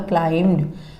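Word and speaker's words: climbed: He immediately क्लाइम्ड a tree, इसमें B silent है, इसका प्रोनाउंसिएशन होगा क्लाइम्ड। वो एक पेड़ पर चढ़ गया।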